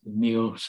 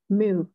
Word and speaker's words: meal: chuyên môn, nhưng mà meal, em để ý về coi cái phát âm đọc lại, cái em đọc nó hơi ngắn quá. Meal, meal.